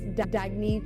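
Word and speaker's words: Dagne: good you can live life intentionally oh it's pronounced dagy do dagy means new dawn it's a new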